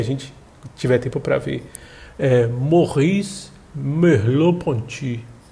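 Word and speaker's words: Merleau-Ponty: frente se a gente tiver tempo para ver morri loponte é o nome dele resumo esse movimento realizado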